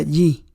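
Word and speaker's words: 義: Hay un carácter chino que se pronuncia yi.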